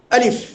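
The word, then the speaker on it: ألف: এই আলিফ উচ্চারণের ক্ষেত্রে আমরা স্বাভাবিকভাবে উচ্চারণ করব। খুব শক্তভাবে না। যেমন আলিফ আলিফ।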